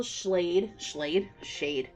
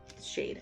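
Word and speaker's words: Schade: But I got Empire of Dragons by Rachel Schlade. Shade. I always do that because it's Rachel L. Shade. I always say it wrong.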